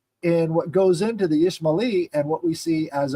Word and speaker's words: Ismaili: ISMA apostrophe ILI, Ismaili.